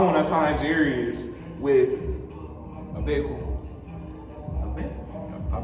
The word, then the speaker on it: Jarius: My name Jarius is made up of 6 of the most beautiful letters in the alphabet. You can't say it right. Tell them Darius with a J.